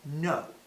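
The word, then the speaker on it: Noh: The first form of Japanese theater we're going to discuss is called No. No, not no, no, like with an H at the end, no.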